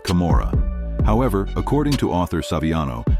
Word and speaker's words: Camorra: the Old Testament and this also rhymes with kamora however according to author